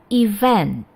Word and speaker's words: event: Event. Oke, event. Jadi, penekanannya adalah pada suku kata kedua.